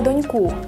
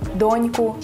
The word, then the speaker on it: доньку: Дарина Петрівна сказала «часу» та «доньку», а Ніка – «випадку». Правильно було б наголосити так – «часу», «доньку», «випадку».